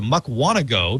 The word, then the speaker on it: Mukwonago: we'll go out to mukwonago because it rhymes with doe and talk to chris